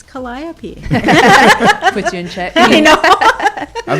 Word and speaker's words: Calliope: her best you know how do you say your daughter's name callie cat but the full name calliope calliope yeah okay cause malcolm always because i say it wrong and he's like it's calliope puts you in check